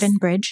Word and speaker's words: Capon Bridge: Dakota Karper is a fiddler and old-time musician from Capon Bridge, West Virginia. Oh, did I say it right? Yes. Capon Bridge. That is correct.